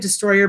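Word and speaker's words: Distroller: know the name is you say it destroyer but it's it's spelled in a way that it looks like dis stroller um you say destroyer and when you say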